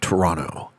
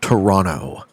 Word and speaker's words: Toronto: So, um the most common pronunciation of Toronto is Toronto. People kind of uh don't pronounce the second T. Toronto is how they usually do it.